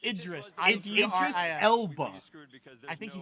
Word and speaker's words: Idris: No, what is Idris Elba? I mean, that's not how you pronounce it, but okay. It's Idris.